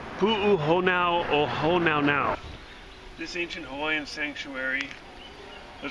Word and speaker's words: Pu'uhonua O Honaunau: It's Pu'uhonua O Honaunau.